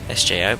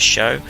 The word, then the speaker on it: SjoW: for uh show sorry I keep thinking of pronouncing it sjo but it's show and then the robotic